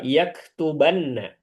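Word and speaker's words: يَكْتُبَنَّ: Yaktubanna nunnya bertasydid ya. Kemudian huruf bnya dirubah jadi fathah. Dibacanya yaktubanna.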